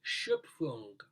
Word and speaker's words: Schöpfung: It's Haydn's oratorio Die Schöpfung.